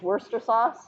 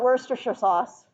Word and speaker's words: Worcestershire: they pronounce things weird you guys know Worcester sauce or Chester sire sauce which is Worcester sauce Worcester or is it Worcestershire sauce Worcestershire anyway we're chestershire sauce is worcestershire sauce okay they pronounce all